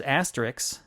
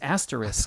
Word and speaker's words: asterisk: If an actor says asterisk, I just want to pull my hair out. No, it's asterisk.